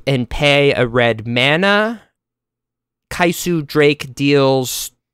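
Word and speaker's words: Kyscu: The card of the week is Kaisu Drake. Let me spell that for you. K-Y-S-C-U Drake. K-Y-S-C-U Drake. Kaisu Drake. I like that it almost sounds like Kyle.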